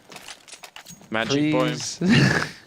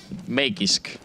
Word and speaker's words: Magisk: Magic Boy. Man, it's harsh. It's hard not to be harsh in this situation as well. Or at least it's pronounced Magisk.